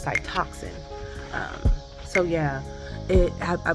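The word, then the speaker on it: Cytoxan: um adriamycin and cytox I kept saying cytosin I believe it was Cy toxin um so yeah it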